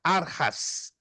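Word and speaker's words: ἀρχάς: mal aí temos principados no grego Aras se escreve archas ou archas mas se pronuncia Aras essa palavra é usada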